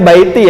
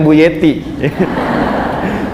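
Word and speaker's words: بيتي: jannati gitu kan ya bacanya Baiti ya bukan Bu Yeti Baiti jannati percikannya Sakinah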